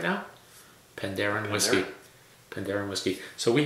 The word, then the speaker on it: Penderyn: be Welsh they did a tasting of the Pandaren whiskeys the pronunciation is pandaren Pandarus Pandarus and if your